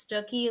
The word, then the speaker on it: Stuckey: relation I don't think we're related actually it's pronounced sticky like cookie and I have I just we